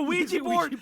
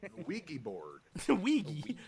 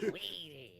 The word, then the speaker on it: Ouija: There's no time for an extended bit on various mispronunciations of Ouija board. Your friend needs help. Ouija board. Ouija board. Weedy. A Wega board.